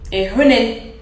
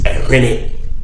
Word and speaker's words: ehwene: How do you say your nose? Ehun. Ehunin. Ehunin. You're close. You're close. Ehunin. Ehwene. Ehunin. So when you say yours, it'll be wohwene. Wohune. But the word is ehwene.